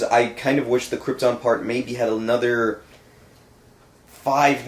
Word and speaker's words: Krypton: by Russell Russell Crowe could pronounce Krypton correctly instead of Krypton Brando kept saying over and over and